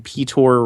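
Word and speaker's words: Piotr: say I was saying petor Rasputin I think that's how you pronounce it or Peter uh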